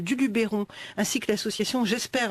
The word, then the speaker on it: GESPER: Et le parc naturel régional du Luberon, ainsi que l'association J'espère. Alors J'espère, c'est gestion de proximité de l'environnement en région. Ça s'écrit GESPER, pas comme j'espère espérer, même si là on peut espérer que ça lutte contre le gaspillage alimentaire.